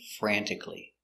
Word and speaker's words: frantically: And adverb describing the action, she is working frantically. Pronunciation, frantically. F, fur, a, fra, m, fran, fran, t, frant, I, frantic, k, frantic, l, e, lee. Frantically, clee, clee, frantically, frantically.